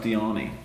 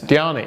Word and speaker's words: Diani: Her name is pronounced Diani. Chap only met today and can't get it right. Say it. Diani. Diani. It's like Armani.